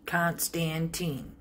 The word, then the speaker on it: Constantine: So, consider the name Con, C-O-N, Stan, S-T-A-N, Tine, T-I-N-E, Constantine, three syllables.